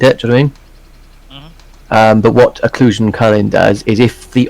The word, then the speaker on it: occlusion: yes um or occlusion no uh the um occlusion coloring and that's how it's pronounced um basically it's rather than now where